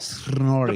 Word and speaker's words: Snorri: Yeah, you would even roll them harder. You have to go full blown on it. Snorri. Yeah, it's like Snorri. The pronunciation is like it's got 19 R's in there, not 2. You actually start rolling them even in the first syllable. You're already rolling. Snorri. Yeah. Snorri. It's all about the R. If you want to pronounce it correctly, you need to get the R's down.